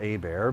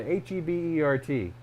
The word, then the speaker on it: Hebert: they're stage names and i didn't want to go by a bear because a bear is hard enough to pronounce as it is it doesn't even spell right it doesn't even spell yeah h-e-b-e-r-t doesn't look like a bear looks like hebert and then some people